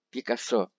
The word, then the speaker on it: Пикассо: По-английски Пикассо, в России произносится на французский манер с ударением на последний слог. Пикассо.